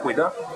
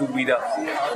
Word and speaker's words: Ouidah: Mais comme les Français ne savent pas bien prononcer le mot Kweda, ils le disent Ouida. Ça veut dire c'est Kweda.